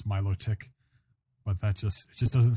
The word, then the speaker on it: Milotic: get what you're saying I just think mellow take just sounds stupid Milotic like my logic like hi Milo you